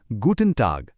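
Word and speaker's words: Guten Tag: दिन में किसी भी समय आप कह सकते हैं गूटन टाग।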